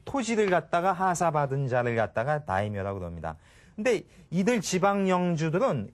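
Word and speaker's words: 大名: 이 지방의 영주를 한자로는 이제 대명이라고 하지만은 일본 말로 읽으면 이것을 다이묘라고 합니다.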